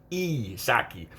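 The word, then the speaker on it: Psaki: her name it apparently it's pronounced sak s-o-c-k saki it's spelled p s a k i p s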